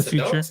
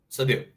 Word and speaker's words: Seydoux: Leah Sedokes. Is that how you say it? Sedokes? So it's Crimes of the Future and Crimes Leah of the Future. Seydoux. What was her name? Leah Seydoux. Seydoux.